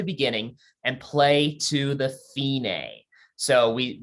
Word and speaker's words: fine: and play to the finay so we we pronounce it fee like you're paying a fee and then nay kind of like a horse sophinae buffinae means the